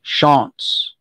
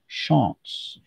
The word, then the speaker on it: Shantz: It's Shantz, not Shantz. It's Shantz.